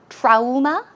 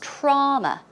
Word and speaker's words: trauma: would you pronounce that trauma today Alma today OMA right but actually it's wrong way of pronouncing it's trauma trauma trauma drop your jaw trauma so it is